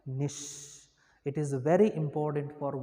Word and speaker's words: niche: term see there nish surprise spelling is the n-i-c-h-e it is pronounced as nish okay you can pronounce it as niche whatever